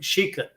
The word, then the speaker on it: Shecut: It's spelled Shecut, but it's more of a French semi-Creole name. And that's the reason you pronounce his last name like Shecut. You accent that first.